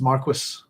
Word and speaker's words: marquis: and above an um from the old French ruler of a border area uh from the middle Latin uh word Mara which means frontier. There we go. Uh pronounced Marquis. Uh my favorite Marquis of